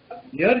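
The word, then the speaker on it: year: इसी तरह बेटा यर जो है वाई ई ए आर, उसका उच्चारण ई से नहीं बनता है, य से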